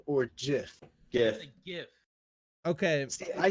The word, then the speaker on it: GIF: statement or that like you're supposed to pronounce it like with a J like Jeff yeah but I will